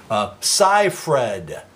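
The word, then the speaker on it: Seyfried: that I never met sigh Fred sigh fred is the correct pronunciation of amanda's last night it was 44 years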